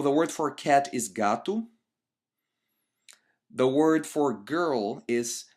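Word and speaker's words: gato: words finish with an O when we actually pronounce them in our dayto day we don't say Gat but we say gatu and in future lessons when we go deeper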